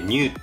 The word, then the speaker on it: NU: ということで MU って書いてニューって読むんですよね